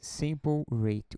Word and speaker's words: sample rate: rate tá sample rate sample Hat se escreve tá se diz sample rate o que que é